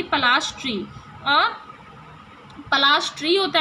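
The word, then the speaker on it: Palashi: Plassey is an anglicised pronunciation of पलाशी, पलाशी पढ़ते हैं ना हिंदी में वर्ड, तो उसका एंग्लिसाइज्ड नेम है, यानी कि इंग्लिश नेम है, थोड़ा सा चेंज कर दिया है, मॉडर्नाइज कर दिया है।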